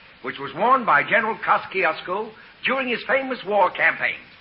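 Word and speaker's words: Kościuszko: In Poland, we say his name Tadeusz Kosciuszko. But in America, Tadeusz Kosciuszko is fine. Jenna, please. Thank you, young lady. Tadeusz Kosciuszko. How's that? Very good. You say it like you're gonna sneeze, and you got it.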